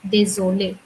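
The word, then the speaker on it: désolée: However, in both the scenario, the sound will remain the same. So if I say désolé or if with extra e is also désolé. And the next is je suis désolé, je suis désolé.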